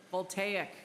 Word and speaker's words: voltaic: Voltaic, the wrong emphasis on the wrong syllable.